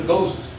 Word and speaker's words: ghost: There is no घ sound at all in English.